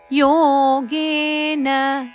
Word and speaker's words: ಯೋಗೇನ: ಅನನ್ಯೇನೈವನ್ಯೇ ದೀರ್ಘ ಉಚ್ಚಾರಣೆ ಮಾಡಬೇಕು ಅನನ್ಯೇನೈವ ಯೋಗೆನ ಯೋಗೆ ಎರಡು ದೀರ್ಘ ನ ಹರಸ್ವ ಅದು ಚರಣದ ಕೊನೆಯಲ್ಲಿ ನ ಬಂದ ಕಾರಣ ರಸ್ವವನ್ನು ದೀರ್ಘವಾಗಿ ಉಚ್ಚಾರಣೆ ಮಾಡಬಾರದು ನಾವು ಲಯದಲ್ಲಿ ಹೇಳ್ತಾ ಹೋಗುವಾಗ ಒಂದೊಂದು ಸತಿ ದೀರ್ಘ ಆಗ್ತದೆ ಹಾಗಾದರೆ ತಪ್ಪಾಗ್ತದೆ ಅದನ್ನು ಯೋಗೇನ ಅಂತವೇ ಹೇಳಬೇಕು ಮಾಂಧ್ಯಾಯಂತ ಉಪಾಸತೆ ಮಾನ್ ಇಲ್ಲಿ